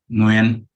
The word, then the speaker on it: Nguyen: last one's pronounced Nguyen.